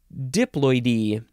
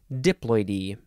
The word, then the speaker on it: diploidy: all I can gather diploidy diploidy is a noun and I think you emphasize the D diploid e a very very very